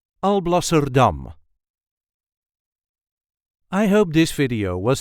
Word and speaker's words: Alblasserdam: There is a light emphasis on the last syllable. I'll blur dumb. Also dumb. Alblser dum.